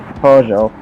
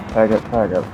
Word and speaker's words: Peugeot: Peggott, or I'm saying Peugeot. Sorry, I get a little trained on that one because I used to call Peggott. It's Peugeot or Peugeot because the T is silent.